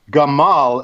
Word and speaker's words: Gamal: At first I thought it was Kamal, and they spelled his name wrong. It's Gamal El Madawi.